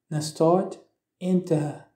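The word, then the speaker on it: na Stáit Aontaithe: Par exemple, pour dire les États-Unis, en irlandais se dit na stát inte, na stát inte. Les voyelles E et O se prononce comme un O long.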